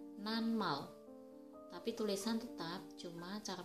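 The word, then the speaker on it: 낱말: Seharusnya dibaca natmal, tapi yang benar dibaca nanmal.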